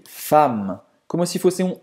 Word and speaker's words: femme: Você não vai pronunciar esse E. Então você não vai dizer fameux.